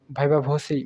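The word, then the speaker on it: viva voce: পরীক্ষার code number কত এটাকে ইংরেজিতে কিভাবে উচ্চারণ করা হয় ভাইবা ভসি বলা হয় আর কি মৌখিক পরীক্ষা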